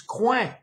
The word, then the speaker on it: coin: do with a corner in French it's Quang okay but Quan spelled c-o-i-n like coin uh one there was one